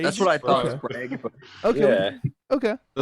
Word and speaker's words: Sprague: Sprague. Sprague. That's what I thought. Okay. Sprague, but Okay.